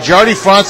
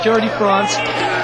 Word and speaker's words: Jardi Frantz: wrestling circuit yes JY France France JY France is how you say his name Scotty I'm sorry Jordy France he he's definitely getting